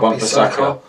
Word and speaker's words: Wan-Bissaka: Aaron Wan-Bissaka. Have I said it right? Wan-Bissaka.